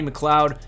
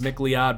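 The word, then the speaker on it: McLeod: safety you got Rodney McCloud it might be pronounced Mick Lee odd but McCloud is just too perfect for a prototype Center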